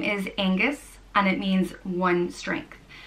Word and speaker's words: Oengus: It can be spelled with an O or an A. E-N-G-U-S. Oengus.